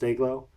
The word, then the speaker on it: DYGL: They spell it, pronounced Dayglow.